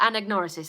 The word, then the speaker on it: anagnorisis: his anagnorisis or yeah and ignore assist that's how you pronounce it I mean M pronounced